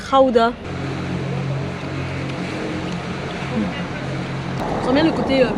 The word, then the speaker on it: Gouda: D'ailleurs le Gouda se prononce en fait Gouda.